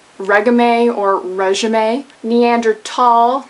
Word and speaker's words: Neanderthal: not reg or reim neander tall not Neanderthal salmon not salmon often